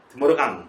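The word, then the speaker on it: De Morgan: N 발음만 있는데 이럴 때 있을 때 앙 발음 나요. 프랑스어는 앙 발음 나요. 그 영어식으로 읽으면 드모르강이 있지만은 프랑스어 읽으면은 그냥 드모르강 이렇게 돼요.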